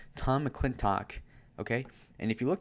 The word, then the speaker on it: McClintock: Bustamante, who we know nothing about, and Tom McClinton. Yeah, how the fuck do you say his name? Tom McClintock, okay?